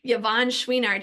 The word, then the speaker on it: Yvon Chouinard: Yvon Chouinard, I had to look up how to pronounce that one. Yvon Chouinard, he's the founder of Patagonia.